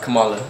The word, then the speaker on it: Kamala: I mean, not Kamala.